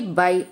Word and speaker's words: Bysshe: Here you can find the spelling as Bysshe, but we pronounce it as Percy Bysshe Shelley.